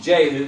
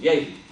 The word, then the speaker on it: Jehu: We call him Jehu because we don't pronounce the J. We pronounce the J instead of the Y sound, but it was Jehu.